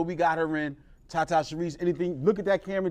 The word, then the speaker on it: Sherise: that's t a t Sharice is spelled like she Rise um s h e